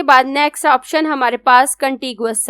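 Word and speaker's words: Contiguous: next option हमारे पास कंटी गुस है कुछ लोग इसको कंटे जियस भी पढ़ते हैं लेकिन कंटे जियस के स्पेलिंग डिफरेंट आते हैं जी के बाद आई आता है यू नहीं आता और कंटे जियस का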